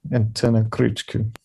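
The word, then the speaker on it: Antena Krzyku: I mispronounced enough things on this podcast. It's Antenna Kruczkov. Yeah, Kruczku. Antenna Kruczku.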